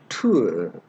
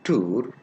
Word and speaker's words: tour: Example of words for this diphthong are tour. We say tour. We say tour. Now, you can easily guess that the pronunciation tour is not right. So, what is the right pronunciation? The right pronunciation is tour, tour, tour, tour, ua, ua.